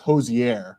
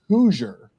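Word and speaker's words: Hozier: you have the new I think it's pronounced Hosier. Hosier, yeah. Everybody kind of does it differently. And it was like, do you have the new Hosier? And they're like, oh, is that how you say it? Is that how you say it? And this guy next to me, he was like, oh, is that how you say it? And I said, unless you're from Indiana, then it's Hoosier, because like Indiana Hoosier.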